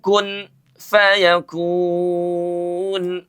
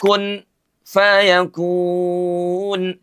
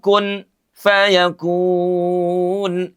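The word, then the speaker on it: كن فيكون: Innama amruhu idza arada saian ay yaquula lahu kun fayakun. Ada yang membacanya diizharkan bahkan ada yang memberi kesan saktaquahu kun fayakun. Padahal huruf nun bertemu dengan huruf fa. Oke. Itu dihukumi dengan ikhfa.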